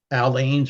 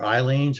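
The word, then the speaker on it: Aleene's: get yourself some glue i use allenes or eileens i pronounce it tacky glue that's for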